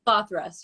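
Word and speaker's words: Slothrust: but they're great um sloth rust or slow thrust it's cloth rust yes you got it right there yes cool i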